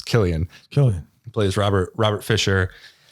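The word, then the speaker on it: Cillian: screaming every time I hear pronounce it's Killian Killian plays Robert Robert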